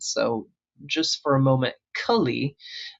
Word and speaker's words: Kali: So just for a moment, Kulli, not goddess Kali, but Kali spelled the same different markings.